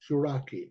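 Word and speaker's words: Chouraqui: gonna say it wrong so you say it shaki shaki it's like a rocky with a sha on the front Andre shaki and the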